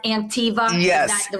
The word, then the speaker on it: Anktiva: It's pronounced Antiva.